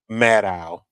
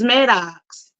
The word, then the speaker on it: Maddow: Maddow. Maddow? I thought it was Maddox. No, Maddow. The X is silent.